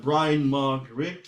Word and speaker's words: Bryan Mark Rigg: I am talking to Bryan Mark Rigg. That's how I pronounce the name.